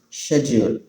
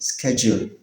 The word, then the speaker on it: schedule: Next, the next one is schedule. In British English, it's pronounced schedule, schedule. In American English, it's pronounced schedule, schedule.